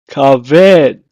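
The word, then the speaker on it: כבד: In Hebrew, is pronounced as kaved. Kaved.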